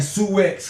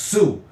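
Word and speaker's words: Sioux: when you you saying sux cuz it's spelled s i o ux but it's really pronounced Sue and you older than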